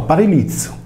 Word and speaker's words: Parilicium: mi è chiaro che il Par Lion pronunciato paril liiz significa parizu ovverosia dello